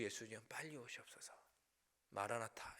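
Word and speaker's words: Maranatha: 주 예수님 빨리 오시옵소서 마라나타 이렇게 발음하죠 아람어 주님 빨리 오시옵소서 우리에게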